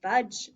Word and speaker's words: fudge: You are not the only silent letter in fudge, Dippy. What's the other silent letter? That is right, said Dippy. Magic E is silent too.